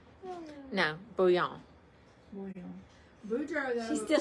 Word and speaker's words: Bouillon: Bouillon. Boudreaux, though. She's still saying it. She's got to pronounce those L's in there.